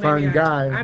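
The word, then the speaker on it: fungi: today hopefully you guys get contagious too so fun guy like I'm the fun and then guui like fun guy well it's fu g y pronounced Fung guy but spelled f u n g I like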